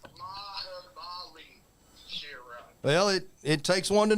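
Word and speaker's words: Mahabali Shera: I can pronounce Mally Bally Shira. It's Mahabali Shira.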